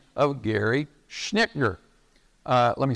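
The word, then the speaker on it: Schnittjer: Again, I want to mention here a book by a guy by the name of Gary Schnickner. Let me spell that for you, because it's very strange in my view.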